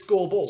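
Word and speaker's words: Skurbull: come in you know his name is scoreboard scoreboard scores yeah but it's but it's pronounced that way but it's spell s-k-u-r-b-u-l-l right scoreball scoreboard scoreboard it's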